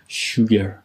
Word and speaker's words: sugar: دقت کنید کلمه رو خیلی اشتباه تلفظ میکنم. میگن sugar. در صورتی که یه صدایی هست بین او و او.